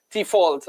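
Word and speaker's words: Dewald: for RCB, says Cricinfo, and not Devold, it's Default. Apparently, that's the pronunciation. It's a F, it's not a V, like with most Dutch names in South Africa, Van de Dusen, Van der Merwe, and all of that.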